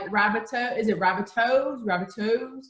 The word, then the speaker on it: Rabbitohs: teams, and you know, thinking, how do you pronounce that? Because like Rabbitoh, is it Rabbitohs? Like I wasn't. It's Rabbitohs, yeah.